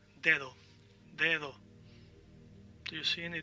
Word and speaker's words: dedo: Now, the word dedo, you see that one D is highlighted, it's thick, because the D in the middle of the word, you want to pronounce it a little bit different.